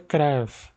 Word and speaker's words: Cruyff: O nome correto é Cruyff, porque ele é holandês e tem U, então a pronúncia do U é assim.